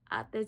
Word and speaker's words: Ate: That doesn't say 8. It's Ate Tiffany. If you didn't know how to pronounce it. If you got this far in the video, that's how you pronounce it.